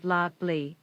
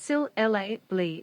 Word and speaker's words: syllable: You know, native speakers know to say S Y L syllable, not sil lable or sil lable.